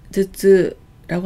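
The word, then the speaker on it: 頭痛: 두통을 즈즈라고 하는데요. 이럴 때 이 두 자를 도라고 안 읽고 즈라고 읽는 점 주의하시기 바랍니다.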